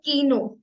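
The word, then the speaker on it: Kino: यद means everyone next के ए को हम प्रोनाउंस करेंगे का का लाइक दिस कीनो कीनो किनो means cinema next L एल एम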